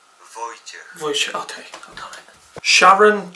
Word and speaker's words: Wojciech: Sharon, Jay, and Wojciech, how the fuck do you pronounce his name? Wojciech. Wojciech, okay, I got it.